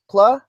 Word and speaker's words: Pla: say your last name is it PL PL just the way yeah rhymes with blah very weird name well